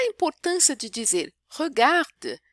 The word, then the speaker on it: regarde: Je regarde, você vê que é e e, mas o final é mudo.